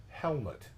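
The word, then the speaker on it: Helmut: stop you real quick Baron helmet Zemo okay thank you as I learned from yesterday yesterday like helmet Lang yeah fashion designer yes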